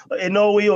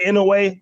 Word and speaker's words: Inoue: So a few other people I had down here who I enjoyed this year, of course, Inoue or Inoue. People pronounce it different ways.